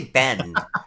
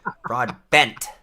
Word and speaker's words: Broadbent: I always say bend. Broad bent. Broadbent.